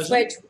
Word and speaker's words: Swedge: Swedge the Swedge yeah the soft Jo Swedge rhymes with wedges remember I always get